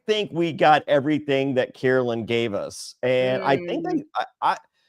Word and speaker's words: Carolyn: She gets upset when you mispronounce her. Carolyn. Yes. Carolyn.